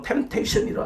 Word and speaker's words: temptation: 영어로는 temptation이라 하잖아요. 여기서 P는 묵음이라 그러죠.